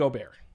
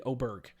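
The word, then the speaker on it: Åberg: I'm out on Ludvig Oair. Um oh actually I saw a video he wants me Oberg. He wants the the hard G to be pronounced Ludvig Oberg.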